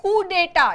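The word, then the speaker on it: coup d'état: इसके अगेंस्ट जो गवर्नमेंट, देखो, a government दैट gained power bye कू डेटा, इसका प्रोनाउंसिएशन है कू डेटा, जिसको हम कू बोल सकते हैं।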